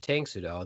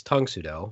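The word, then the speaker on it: Tang Soo Do: a bad practitioner of tangsudo that I kept pronouncing it wrong it's Tung sudo sorry about that I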